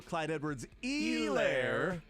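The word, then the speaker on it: Clyde Edwards-Helaire: the 35-yard line also Clyde Edwards e lair you got a coaching point there silent h and he wanted to make sure he knew it Clyde Edwards e Lair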